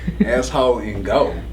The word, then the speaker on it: AssHoleInGold: I'm gonna spell it out this time because for whatever reason, it always lose translation. Yeah. So it's ASSHOLE. Ain't no W in there. It's asshole. INGOLD. Not asshole in go.